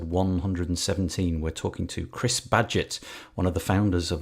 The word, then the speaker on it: Badgett: Belfast, we have Chris Badgett. And I've pronounced his surname correctly because just a moment ago he told me you pronounce it like Inspector Gadget.